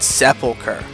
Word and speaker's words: sepulcher: This gives you access to a new three-part combo of atonement, supplication, and sepulcher. Yes, that's how it's pronounced.